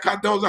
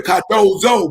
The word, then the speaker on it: Cardozo: deserving young people at Cardozo High School. And I chuckled a little bit when I said Cardozo, because that's not the right pronunciation. It's really Cardozo, but we don't say it. We say Cardozo.